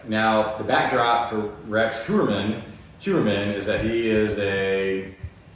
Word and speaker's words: Heuermann: Pronounce his last name again for me? Heuermann. Rex Heuermann.